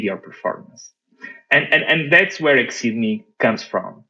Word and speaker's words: Exeedme: So it's like Exceedme, more so the word exceed without the C in the middle.